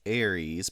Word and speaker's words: Aries: Lunatic says it's Aries. Bradamite says it's Aries. AIR. How they're phonetically spelled.